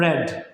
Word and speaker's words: read: Verb first form ആകുമ്പോൾ നമ്മൾ എന്ത് വയ്ക്കും? റീഡ് എന്ന് പറയാം, റീഡ്. സെക്കൻഡ് ഫോം ആകുമ്പോഴോ റെഡ് എന്ന് പറയും. തേർഡ് ഫോം ആകുമ്പോഴോ എന്താ പറയുക? റെഡ് എന്ന് പറയാം. Okay, റീഡ്, റെഡ്, റെഡ്.